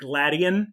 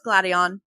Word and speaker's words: Gladion: say it like that they say gladian as opposed to gladion oh it's gladion oh gideon people say